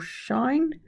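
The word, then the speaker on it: sinh: X si NH x hyperbolic sine pronounced cinch or shine we have hyperbolic cosine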